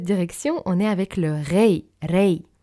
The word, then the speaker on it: Rei: C'est ok de dire Rei avec un R un petit peu francophone, c'est normal qu'on n'arrive pas forcément à tout prononcer, mais essayez en tout cas de ne pas mettre un A après le R et vraiment R-E-I, Rei, l'énergie de l'âme et de l'univers.